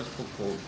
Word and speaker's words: Foucault: Por que essa pronúncia, pessoal? Paul Michel Foucault porque ele é francês.